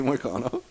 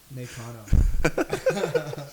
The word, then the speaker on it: Moicano: Peter Yan, Song Yadong, Okay, wait, say Moicano. Nakano.